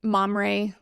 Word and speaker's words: Mamre: about um now, do you all say it mamry or or memory or there's So, there there are obviously different ways to pronounce it. Felt like where we live in the upstate, Mamray would be better received and more understood.